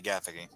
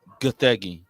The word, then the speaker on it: Gathegi: The actor for Terrific, Eddie Gathegi. Oh. It's actually Gathegi. Whatever. That's how you pronounce his name.